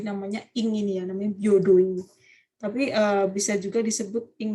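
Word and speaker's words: 平等院: Arsitektur ya, kita lihat arsitektur apanya contohnya ya, yaitu ada yang namanya apa tuh bacanya? Yodoin. Byodo-ing desu ne, hai, Byodo-ing ya.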